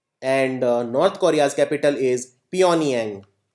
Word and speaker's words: Pyongyang: And North Korea's capital is Pyongyang. Also written as Pyongyang, but G is silent.